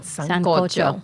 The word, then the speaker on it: sancocho: Let her pronounce it. All right. Sancocho.